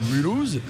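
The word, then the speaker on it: Mulhouse: de suite qui te qui te prononce mulouse tu sais que tu dois dire mulouse enfin voilà c'est c'est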